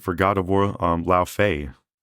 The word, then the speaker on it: Laufey: Um, La Fay. I believe that's how you say it. La Fay because Fay is the character.